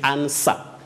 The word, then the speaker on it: answer: remember we also say ansa not answer in that word also letter w is silent just like letter w in s w o r d you say sword sword